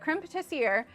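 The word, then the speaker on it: crème pâtissière: So it's a recipe for a, I always feel like a little pretentious when I pronounce it this way. So like on Great British Bake Off, they call it a creme pat, but it's a creme patissiere.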